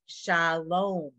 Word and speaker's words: shalom: The first word is shalom. Now, what else would it have been? It could have been shal, vom. It's just not.